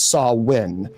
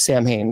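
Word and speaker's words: Samhain: Uh it's officially pronounced as Sawin. Uh some people say it's Sam Hayne.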